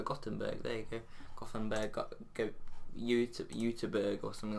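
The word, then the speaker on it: Göteborg: I swear he plays for Gothenburg, or that's the English way you say it. I think it's like, second yellow card pronounces this brilliantly, Uteberg or something like that.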